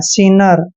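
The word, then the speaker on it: sinner: की मात्रा पढ़ते हैं डबल एन का उच्चारण न करेंगे ई आर को र पढ़ते हैं सीनर सिनर होता है पापी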